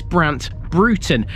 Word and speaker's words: Brant Broughton: sleeper to Newark Road note that unlike the North Lincolnshire town of Broughton this is Brandt Brewton despite it being spelled the same way its name means fortified